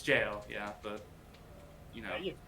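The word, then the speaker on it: Gaol: in the gap in like the gal that's like it's pronounced it's jail yeah but you know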